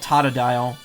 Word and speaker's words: Totodile: too oh me too Totodile is my favorite uh starter even though it's apparently called Tata dial but a lot of people don't pronounce it that way slow Walker Rose to